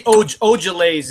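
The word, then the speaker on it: Ojeleye: Semi Ojales is how you say Semi's last name.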